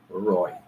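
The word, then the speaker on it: ร้อย: So for 100, it is Roy, but they will call it Loy. It's R, but they will say L pronunciation.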